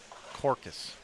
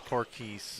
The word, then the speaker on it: Corkeys: It's Corkeys, right? I go Corcus. Corcus is not right. I know it's Corkeys.